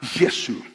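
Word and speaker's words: یسوع: Nadie se llama a Jesús y se pronuncia la palabra Yesu.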